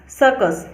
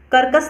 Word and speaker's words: circus: CIRCUS, सर्कस। यहाँ पे इसको करकस नहीं पढ़ेंगे, यहाँ पे इसको सर्कस पढ़ेंगे क्योंकि सी के साथ आई है और यहाँ पे सी के साथ यू है, इसलिए यहाँ पे क प्रोनाउंस होता है, सर्कस।